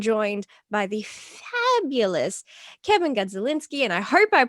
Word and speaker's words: Gadzalinski: today i am joined by the fabulous kevin godzilinski and i hope i pronounced your last name right you did very